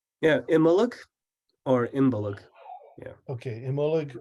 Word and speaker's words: Imbolc: knew how to pronounce emollig before is that right emolic yeah Emma look or imbalog yeah okay emolic or embolic it's almost like the sea gets swallowed a little bit at the end right yeah in contemporary